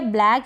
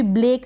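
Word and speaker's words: black: है फिर यह है ब्लैक यहां पर बीएल को ब्ल पढ़ते हैं यह मैंने शायद पहले आपको बता दिया है ब्ल ब्लैक क्या पढ़ेंगे ब्लैक इसको भी ब्लेक ना पढ़े ब्लैक फिर ये है हैक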